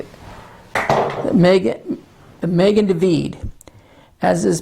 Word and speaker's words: Magen: Jewish people, scattered throughout the world, the Magen, it's spelled M-A-G-E-N. I'm going to write that down. Pronounced Magen, David. We say David. If you're a Jew, that's how you would say it. Megan David, as is pronounced in Hebrew, literally means